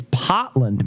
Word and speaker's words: Portland: that's how they say they just cut the r out i guess if it's